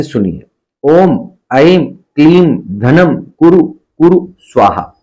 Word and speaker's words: ऐं: ऐम हो क्लीम हो तो भी चलेगा, ऐम चलेगा, क्लीम चलेगा। असली उच्चारण है ऐं, ऐं, बस खत्म।